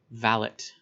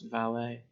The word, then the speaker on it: valet: england at the time they would have used the word valit we pronounce valet so the people who